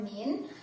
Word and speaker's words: mean: Untuk cara pengerjaannya, mencari rata-rata itu dalam bahasa statistik yaitu mean, tulisannya mean ya, bacanya min, dan simbolnya itu seperti ini ya teman-teman, ini sama dengan rata-rata.